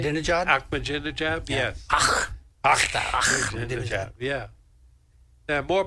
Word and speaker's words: Ahmadinejad: Did I pronounce that right? Ahmadinejad, yes.